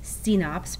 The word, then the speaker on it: CNOPS: It's CNOPS, pronounce it C-NOPS.